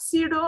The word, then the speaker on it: pseudo: Can you tell me the meaning of pseudo and podia? What is pseudo? Pseudo, or you can pronounce zero. P is silent here.